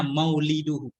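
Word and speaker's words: مولده: Bacanya mauliduhu. Mauliduhu, tempat lahirnya beliau.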